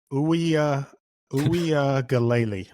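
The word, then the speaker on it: Uiagalelei: he was terrible so DJ oua oua galle that's how you pronounce it gotcha yep so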